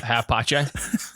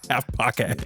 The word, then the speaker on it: HalfPace: half pache. Half pocket. Yeah. I've been doing a hard K noise.